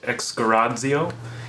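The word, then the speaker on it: ἐξαγοράζω: It initially, it's a Greek word. That's not how it's pronounced, though. It's exgarazio, and it means to redeem.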